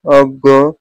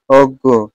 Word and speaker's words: অজ্ঞ: উচ্চারণ ন এর মত হয় কিন্তু এখানে এখানে উচ্চারণ হবে গ সংযুক্ত বর্ণটি গ এর মত যেমন বিজ্ঞান অজ্ঞ গটি তত হবে গটি কি হবে দুইবার হবে গটি দুইবার হবে গটি দুইবার হবে অজ্ঞ এরকম চিহ্নিত শব্দ যদি থাকে বর্ণ যদি থাকে